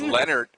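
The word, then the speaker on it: Lenert: I was like, no, it's actually Matt Leonard. It's spelled L-E-N-E-R-T.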